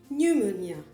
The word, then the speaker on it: pneumonia: Pneumonia, la pneumonie, on ne prononce pas le P.